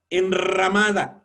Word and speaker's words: enramada: Vean, enramada, suena muy fuerte y sin embargo hay una sola.